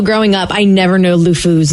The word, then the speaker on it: LeFou: I can never pronounce it. Le Foy, Le Fleur, Le Four, Le Fou.